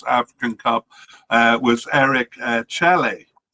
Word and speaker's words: Chelle: Cup uh was Eric Chelle. I'm not sure how to pronounce the name. It could be Chelle or Chelle. Uh, no, Chelle. It's Chel. I can't think of any other way to pronounce it.